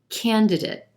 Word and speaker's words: candidate: dive in first word candidate candidate we've got three syllables here emphasis on the first syllable and the a is in black sound candidate now when that